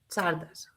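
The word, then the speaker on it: Czardas: And yes, it is C Z A R D A S Charas.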